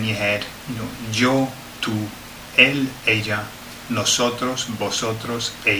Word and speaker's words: tú: Tú. Tú. Okay, rhymes, doesn't it? You, tú.